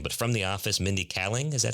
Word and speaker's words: Kaling: I don't know how to pronounce her name, but from The Office, Mindy Kaling. Is that how you pronounce her name? Kaling.